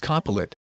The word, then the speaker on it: Copilot: I know it's pronounced Copilot, but that's what I call him, Copilot.